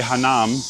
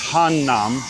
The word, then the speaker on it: Hannam: You know, you guys been telling me I'm saying it wrong. I like to say Hanam. I think it's Hannam. I have to get that right. I have to get that down because Hanam is a different neighborhood somewhere else.